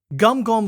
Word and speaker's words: Guingamp: »] Guingamp (prononcé « Gahn-gohm ») serait notre prochain adversaire en seizièmes de